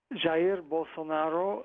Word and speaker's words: Jair Bolsonaro: Jair Bolsonaro, and well, you said most of what we need to know.